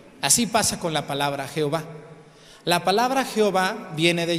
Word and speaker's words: Jehová: pronunciación de y y le puso las palabras la pronunciación como J pero no es J de verdad Jehová debería de ser con y no con j O sea que hizo